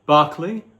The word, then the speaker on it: Berkeley: and those three empiricists are lock John Lock Barkley the one who gave his name to the U mispronounced B Berkeley University uh Barkley George Barkley or Bishop Barkley as something called